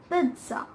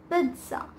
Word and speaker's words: pizza: is oftenly mispronounced, and it is not pizza, guys. It's pizza. Pizza. There's a T at the end of I, even though it's not in